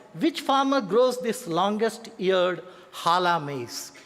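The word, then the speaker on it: Jala: Which farmer grows this longesteared hala maze? It's pronounced as hala but it is written as j a l a.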